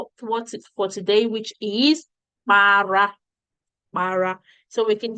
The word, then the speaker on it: para: You have said para is aria, para. If you look at my pronunciation, it is pa, not ba, pa. That's what I said. Para, not bara.